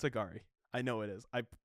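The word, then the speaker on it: Angourie: them three I'd like is that really how you say your name agar yes the way it's spelled I would not yeah it is no it's agari I know it is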